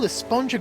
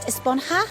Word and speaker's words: Esponja: And that's what this whole Esponja Grande thing has been about, huh? Actually, it's pronounced Esponja with an H sound at the end. Really? But we've all been saying Esponja.